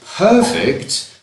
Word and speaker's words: perfect: which is slightly different we have perfect which is an agile hmm that sandwich was perfect that movie was perfect perfect and the stress is on the first syllable but if it's an action I need to perfect my English I need to perfect my English if it's a verb then the stress is on the second syllable the court record is